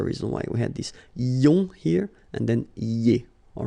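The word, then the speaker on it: -ions: So now let's see nous, and nous goes like I-O-N-S, okay? And it should be pronounced ion. Remember, final S is not pronounced.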